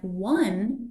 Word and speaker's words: one: them in the future remember that the o sound in O and the o sound in one are completely different o is pronounced just like the letter O and one is pronounced with the w sound what I owe you